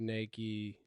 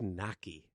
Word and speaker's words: Nike: do like the in the bottom feeder all the big Nike. Is that how you pronounce the Instagram handle? Yeah. Oh man, I always thought it was Big Naki. Naki. But Nike makes more sense.